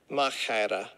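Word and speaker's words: μάχαιρα: Machete, it looks like, but it's machera.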